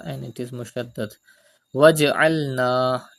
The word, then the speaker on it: واجعلنا: Waj'alna. Do qalqala in jim.